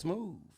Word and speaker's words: Shmuuv: Or should I say it's smooth? Yeah, yes, love.